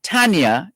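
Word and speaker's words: Thania: to tell us and so this tanya is spelled t-h-a-n-i-a but the h is silent t-h-a-n-i-a tania right so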